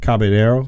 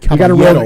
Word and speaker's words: Caballero: Caballero. Caballero. You got to roll Yeah.